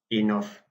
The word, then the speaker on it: enough: Yeah, so normally a person would ask, did you have enough fruit or veg? Yeah, but enough in Dutch is genoeg. Yeah, mind spelling E-N-O-U-G-H, G-H pronounced as an F.